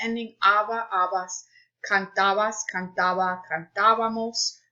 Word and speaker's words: cantábamos: Notice that the accent mark is on the A only in nosotros, so because they want you to have the stress on that syllable, cantábamos. Otherwise, it would be cantábamos, and that's not where it's supposed to go.